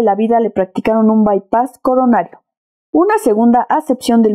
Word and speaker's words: bypass: bypass la voz inglesa bypass verbo que se pronuncia aproximadamente bypass y que literalmente se traduce como desviar o